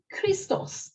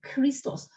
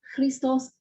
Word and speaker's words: Christos: Christos, the anointed one. Christos, not Christos, Christos.